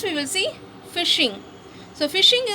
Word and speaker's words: phishing: So phishing is pronounced like phishing, and working functioning is also similar.